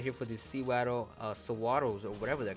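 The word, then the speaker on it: Sewaddle: right here for these Sawaddles or whatever they're called. I usually call them Seawaddle or Sawaddles. I guess Sawaddle is the correct way to say it because it, you know, the anime said it.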